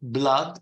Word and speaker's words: blood: blood it's you see it's very similar to food and mood but you pronounce it blood and flood what can I say